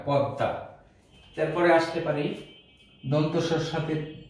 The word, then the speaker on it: পদ্মা: তাহলে আমরা লিখতে পারি পদ্মা, এই ময়ের উচ্চারণ হবে না, দয়ের সাথে ম যুক্ত থাকলে সে ময়ের উচ্চারণ হয় না, দ দুইবার উচ্চারণ হয়, পদ্মা।